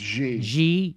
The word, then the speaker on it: Xi: It's Xi. Xi? Xi. Yeah, like Zha Zha.